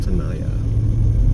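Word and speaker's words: Tenaya: green light here at Tanaya t n a y a pronounced Tanaya at least that's what the locals have told me the locals are very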